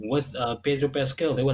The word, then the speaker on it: Pedro Pascal: Pedro Pascal.